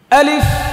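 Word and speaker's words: ألف: ধরেন আলিফ, শেষের ফাটা দেখছেন নি কি করছি? এটা করতে হবে। আলিফ, ফায়ের আওয়াজটাকে চালু রাখতে হবে। আলিফ, আবার বলেন, আবার আলিফ, আবার বলেন।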